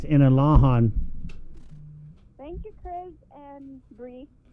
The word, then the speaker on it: Inalahan: It's not Inarahan, it's Inalahan.